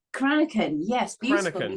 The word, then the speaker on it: Cranachan: Did I pronounce it right? Cranachan? Cranachan, yes.